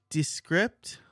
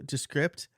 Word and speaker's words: Descript: So I'm going to say Descript, like description. I guess if you say description, that's how you pronounce it.